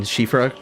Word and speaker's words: Siofra: I remember someone in one of my Elden Ring videos like gave me props for pronouncing Shifra correctly, and I was like, no, I completely fucked that one up.